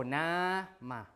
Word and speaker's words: nama: So words like nama, for example. So the stress is on the primary syllable, right? So nama, like that. So the second one is not stressed, right? Nama.